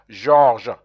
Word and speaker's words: Georges: And son père s'appelle Georges. That's how you pronounce George in French.